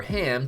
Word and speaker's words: Ham: the book of Exodus ham itself is an English pronunciation with the Hebrew term being closer to cem which was well known